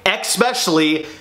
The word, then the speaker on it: especially: So if you say especially, please know, that's not how it's spelled, and that's not how it sounds.